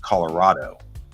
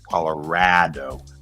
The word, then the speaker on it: Colorado: will pronounce the state Colorado all right with that tall a but that's not the way coloradans pronounce it we pronounce it Colorado with that flat a and that's the way